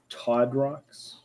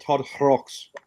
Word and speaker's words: Totrox: Todrox? No, there's a silent H with an umlaut in the middle of it. Totrox. You have to put a little phlegm into it.